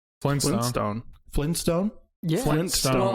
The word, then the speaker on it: Flintstone: people will remember as flynn stone and others remember as flint stone well yeah that's just how you say it that's regional dialogue yeah it's people being lazy and not pronouncing that t yeah flintstone flintstone flynn